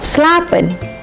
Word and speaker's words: slapen: Namun, bentuk vokal panjang tidak selalu seperti itu loh. Yuk simak contoh berikutnya. slapen, spreken, lopen, duren.